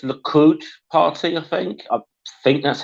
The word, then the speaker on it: Likud: oh, look, I think it's pronounced Likud Party.